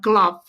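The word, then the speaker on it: Klopp: who cars who cares I'm on Klo it rhymes with flop anyway all right let's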